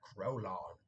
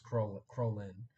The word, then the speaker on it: Krolin: one of the films, pronounced it like Krolon. But it's I guess that's the way he personally did it. But it's Krolin.